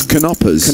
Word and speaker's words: Knoppers: Says in the Netherlands, Knoppers is pronounced with a hard K. So it's Knoppers.